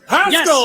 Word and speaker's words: Haskell: Rhymes with rascal. And, keep going, keep going. Glasgow. And Haskell? Haskell.